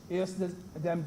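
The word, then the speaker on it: ejusdem: s d e m it us pronounced like if the j was an age yes them generous rule and it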